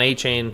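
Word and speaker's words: Achane: overshadowing someone like Devon Achain, who actually had or Achan, I guess says Achan. It really should be Achain.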